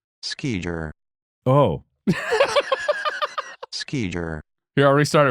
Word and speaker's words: skijor: All right, here's the official pronunciation for those that are listening. Skijer.